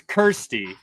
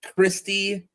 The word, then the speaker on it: Kirsty: Kirsty. I've called you Christy for like a year and a half or 2 years, whenever.